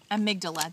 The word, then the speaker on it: amygdala: Overactive amygdala.